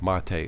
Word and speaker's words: MATE: Okay, so number 10 is PC Linux OS Mate, or Mate it's pronounced.